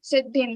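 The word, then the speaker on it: सिद्धिम्: Okay, we will just put extra the, but we cannot pronounce it. We will just say siddhim like that.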